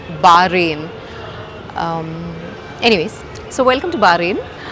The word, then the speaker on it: Bahrain: I pronounce it as 'Be-ha-rin'. Many people will likely pronounce it that way. But, now I realized that it's actually 'Bah-Rayn' Anyways, so welcome to Bahrain.